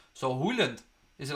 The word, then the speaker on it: Haaland: Morton said, Craig, in Norwegian, Haaland is pronounced O-O sound. So Haaland, is it like Haaland?